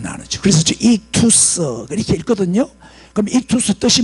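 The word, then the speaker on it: ἰχθύς: 발음 나누죠. 그래서 익투스 이렇게 읽거든요.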